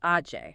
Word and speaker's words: Aje: It covers the first 6 issues of the Comic Republic series, Aj Day. That's pronounced Ajay.